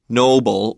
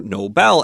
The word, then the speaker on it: Nobel: show you did ask me do you say Noble or Nobel and of course the correct pronunciation is Nobel but it is a word